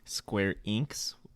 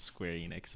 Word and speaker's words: Square Enix: Enix and it sounded like he was saying Square inks I've heard it pronounced both ways which I know for a fact that it is Square Enix but that's that's okay um and Seth was